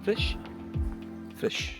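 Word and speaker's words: Flix: We're here in Sebes National Park, here in Flish, how do you pronounce it? Flish.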